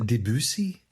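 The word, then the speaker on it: Debussy: part, it is Claude Debutc, who is the composer of Claire DeLoon, right? We pronounce that Debusi.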